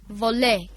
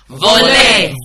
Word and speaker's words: voler: Voler. Very good, all of us. Voler.